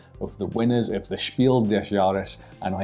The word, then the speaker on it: Spiel des Jahres: is our history of the winners of the Spiel desaris and I said it right this time I